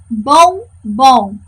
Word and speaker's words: bombom: Próxima palavra, bombom. Chamem comigo. Bombom. Quem é a minha sílaba tônica? Isso aí, o bom. O segundo bom, segunda sílaba bom.